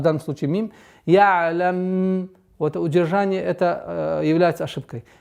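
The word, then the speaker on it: يعلم: Айн при сукуне нужно такое немножко скользящее произношение. Ялам. Вот такой интенсивности у звука айна нет. Ялам.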